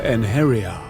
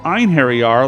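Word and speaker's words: Einherjar: an i in it it should have pronounced it einhary R like I've been doing in this video or a and Harry are like I've heard it pronounced in Nordic the rest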